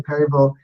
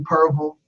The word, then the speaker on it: Perryville: Now you can say Perryville properly with 3 syllables or 2, Perville.